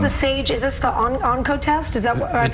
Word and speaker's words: Oncotest: Is this the Oncotest? Is that what I'm pronouncing it correctly? It's a SAGE Oncotest.